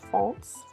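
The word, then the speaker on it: Foncé: I believe it's pronounced Fonce. I feel like it's a French word.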